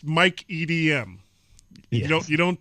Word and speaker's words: Mike EDM: one to throw the parties okay so it's Mike EDM you know you don't pronounce that all the letters together no not